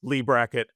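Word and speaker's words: Leigh Brackett: The young man who's helping his mother is named Lee Brackett, which is, you know, phonetically the same as Lee Brackett, L EI GH, the famous science fiction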